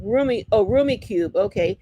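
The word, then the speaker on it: Rummikub: Oh, pronounced roomy cube. Roomie. Oh, Roomie cube.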